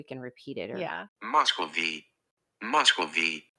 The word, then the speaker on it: Muscovy: see if we can repeat it or yeah Moscow V Moscow V Muscovy duck Muscovy duck okay okay